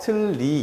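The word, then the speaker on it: 틀니: 두음 법칙이 적용된 자리가 아니고 그런데 리을과 니은이 만나면 니은이 유음화가 되기 때문에 얘가 리로 바뀌게 돼요. 그래서 틀리 이렇게 발음을 하게 됩니다.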